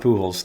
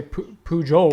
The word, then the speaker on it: Pujols: Do you actually pronounce the J in Portals? I think it's just, you don't say Pujols. Portals? It's not Pujols, it's Pujols, so that would be Portholes. But the J is the H, Portholes, not Portholes.